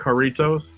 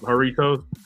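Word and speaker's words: Jarritos: those look them up haritos j a r r i t o s and you know how you know how like a Mexican J is pronounced with an H sometimes right like Jorge is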